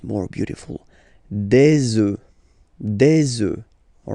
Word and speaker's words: œufs: Then, un œuf, des œufs. Okay, and we'll make the liaison here to make it sound more beautiful. Des œufs, all right?